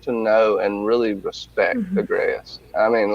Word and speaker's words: Agreus: the whole Ezra, Imogen, I can never remember how to pronounce his name, but it is Mr. Agreus. Yeah, Agreus.